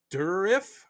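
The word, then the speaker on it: Dourif: Durif is how you say it.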